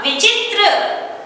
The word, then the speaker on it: विचित्र: व को छोटी की मात्रा, च को छोटी की मात्रा, त्र, विचित्र, विचित्र।